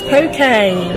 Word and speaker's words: poke: It's not poke, it's poke.